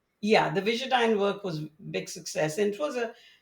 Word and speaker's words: Visudyne: You were referencing So, your work on, is it pronounced Visudyne? yeah, the Visudyne work was big success, and it was as happens in science, a side effect.